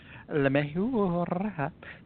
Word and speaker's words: LeMahieu: National League batting average, LeMahieu, 342.